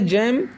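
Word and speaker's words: gem: ज दोनों बोल सकते हैं यहां पर अगला उच्चारण है जम जेम मींस होता है रत्न मणि यहां पर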